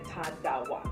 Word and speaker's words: Tarawa: Ta, and then like the R is like a D, so Tarawa. No. Yeah. Hi everyone, we're here today with Tarawa. Hi everyone, we're here today with Tarawa.